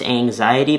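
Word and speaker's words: Anziety: It's Anxiety, but it's spelled A-N-Z-I-E-T-Y.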